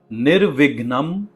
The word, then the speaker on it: निर्विघ्नम: इसमें वी का जो साउंड है वो थोड़ा सा सॉफ्ट है और यह इंग्लिश के डबल जैसा बिल्कुल भी नहीं है। इसमें थोड़ा सा अनुस्वारा यानी नेजल साउंड भी आता है। इसलिए आपको बड़े ही ध्यान से म का जो उच्चारण है वो हल्का सा नेजल करना है। निर विघ्नम।